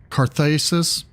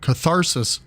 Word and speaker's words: catharsis: light and fury some carthis where Artemis emerges into into the flesh restored to life what was that catharsis I said it wrong kesis from carar catharsis where Artemis emerges into